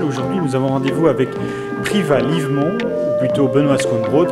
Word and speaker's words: Privat: Son prénom est bien Priva. Priva, P-R-I-V-A-T, Tout à fait. mais qu'on ne prononce pas.